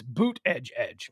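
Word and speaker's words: Buttigieg: me out with the pronunciation of pete buddhij he says it's boot edge edge okay i got that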